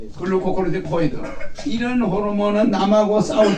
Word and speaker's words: 글루코코르티코이드: 거기는 그로코티콜 그루코티코이드 GLU 그 발음을 앞으로 잘해요. 글루코코르티코이드를 말하는 거야. 그 다른 사람이 들으면 못 알아듣지. 글루코코르티코이드. GLUCOCORTI COID 되게 단어가 길어. 에? 글루코코르티코이드.